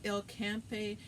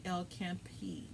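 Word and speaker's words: elecampane: use elder we use now there's something called l campaign e-l-c-a-m-p-e some pronounce it l-campy but it's an l-campaign and what it's one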